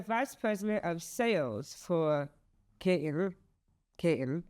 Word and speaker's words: Katin: As the vice president of sales for Katin, am I saying it right? You're saying it correctly.